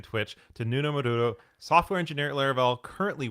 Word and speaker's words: Nuno Maduro: So my name is Nuno Maduro. That's the way I pronounce it.